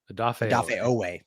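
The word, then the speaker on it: Odafe Oweh: Interesting trade right there, but losing, I always say is Owefe? I always say his name wrong. Odafe Owe.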